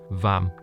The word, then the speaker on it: vam: and that is um the seed mantra is vam so it's like so the mantra is vam right it's like um you know like arm right everybody knows arm and